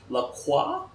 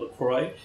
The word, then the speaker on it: Lacroix: to pronounce it correctly it's Lacroix alright that's the French notation I think the American just called Lacroix alright so this bad